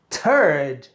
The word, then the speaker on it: turd: First, second, third, and turd. So we have Richard the Third and Richard the Turd. Notice the difference in pronunciation. The Third, the Third, the Third, the Turd, the Turd, the Turd.